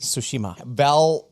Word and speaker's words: Tsushima: It's like it's just an S and not a T. The T is silent. Fantastic. Tsushima.